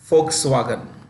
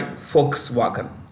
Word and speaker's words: Volkswagen: Okay, Audi, which itself is owned by Volkswagen. The V is pronounced with an F.